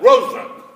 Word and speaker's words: Roosevelt: The last name is Roosevelt. Not Roosevelt, but Roosevelt. When my ancestor, Klaes van Roosevelt, came over from Holland during the late 1600s, the family changed the pronunciation and the spelling to the current Roosevelt during the War of Independence. All branches of the family subscribe to that pronunciation and to that spelling.